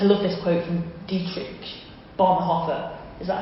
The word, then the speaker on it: Bonhoeffer: I love this quote from Dietrich Bonhoeffer.